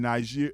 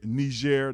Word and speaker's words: Niger: Mali, Bkini, Faso and Niger Nishair. They pronounce it two or three different ways.